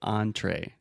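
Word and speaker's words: entrée: Perfect example because you have the on in the beginning and the A at the end. So entree, that's the main dish, the main plate, right?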